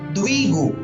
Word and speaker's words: द्विगु: द्विगु, यहाँ पर द्वितीय वाला द्वि और गु यानी द्विगु समास है।